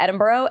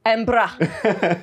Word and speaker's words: Edinburgh: He came to Edinburgh and we were there. That's not how you say it. Edinburgh.